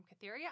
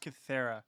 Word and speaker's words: Kythera: Joining me is my co-host and brother, hailing from Cytheria Island, DJ. It's pronounced Kythera.